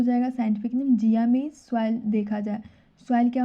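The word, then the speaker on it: Zea mays: इसका scientific name हो जाएगा जिया मेज। देखिए इसके नाम में ही इसका प्रोनाउंसिएशन करते हैं तो मेज ही आता है, जिया मेज।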